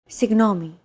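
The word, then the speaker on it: συγγνώμη: in the following word signomi this word is often romanized like this signomi this character isn't pronounced using an English G sound at all it's like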